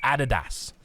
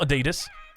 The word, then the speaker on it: Adidas: Adidas Adidas all right we say Adidas here we're from Australia it's Adidas not Adidas 136 is down he's